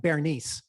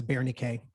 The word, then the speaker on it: Berenice: If you read it, it looks like Bernice. Mhm. But I've heard that the Greek pronunciation is Berenice.